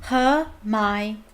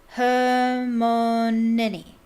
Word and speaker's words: Hermione: Hermione, she said slowly and clearly. Hermione. Close enough, she said, catching Harry's eye and grinning.